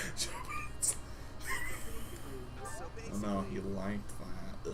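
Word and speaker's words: Jeritza: It's actually pronounced your pizza. It's actually pronounced Jaritza.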